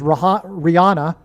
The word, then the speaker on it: Rihanna: So the news came out on 8/8, the day of the Lahaina fire, and she is Rihanna, which rhymes with Lahaina.